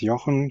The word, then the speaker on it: Jochen: My name is Yan or which is easier to pronounce for English as well as French speaking um developers.